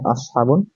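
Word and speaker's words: أصحاب: এসেছে তারপর হচ্ছে আসহাবুন এই শব্দটি উচ্চারণ হচ্ছে আসহাবুন এরপরে হচ্ছে শব্দটির অর্থ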